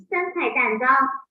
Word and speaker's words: 3块蛋糕: We pronounce it as. 3块蛋糕 Repeat after me for 2 times.